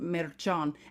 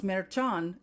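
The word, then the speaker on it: Merchán: kidding of Judge Juan meran and now you guys can all hear how to pronounce merchan correctly from an actual SP speaker remember this man's from Puerto Rico and speak Spanish judge Juan meran was born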